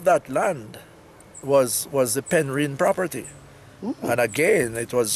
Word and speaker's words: Penrhyn: that we know know people call it ten reen but it's actually Penrhyn yes ven p en h ry head woo that's how it's spelled that somebody's me that